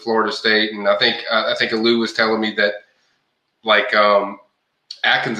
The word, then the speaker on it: Aliou: That's kind of Aliou Bah is the guy, and that is how you say his first name is Aliou, how it looks.